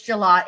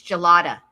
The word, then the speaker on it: Gelata: And so I just it's gelato. It might be gelato. I think it's gelato. Like, hold on. Rebecca. It's gelata. Rebecca Gelata. That's how you say it.